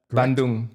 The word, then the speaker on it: Bandung: I love the way you pronounce it. Is that Bandung.